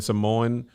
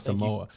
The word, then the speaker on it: Samoa: In Samoan heritage, Hawaiian culture, you pronounce every vowel. So it's not Samoa. It's Samoa. Samoa.